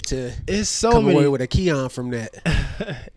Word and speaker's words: Xian: come away with a Kian from that. It's so many different ones. Being honest, where it started, so pronunciation of X-I-N is technically like pronounced like Christian.